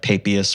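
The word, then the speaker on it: Papias: words and names like papius for example I use the angelized pronunciation for his name even though I always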